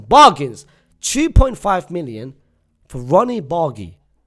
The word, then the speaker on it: Bardghji: 2.5 million for Ronny Bari. Some people pronounce bargi. It's not bargi in Denmark. They pronounce bari.